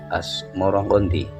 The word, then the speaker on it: Asmoroqondi: Sebutan itu mengikuti pengucapan lidah Jawa dengan dalam melafatkan as Samarkandi yang kemudian berubah menjadi Asmoro-Konti.